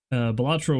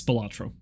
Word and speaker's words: Balatro: specifically in the indie sphere, was like, yeah, Balatro is good. I need to actually look up how it's spelled because I'm positive. Yes, Balatro.